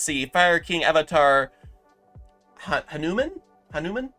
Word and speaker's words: Hanuman: Fire King Avatar Hanuman Hanuman it almost looks like it says human but Hanuman I believe is how you pronounce that he kind of looks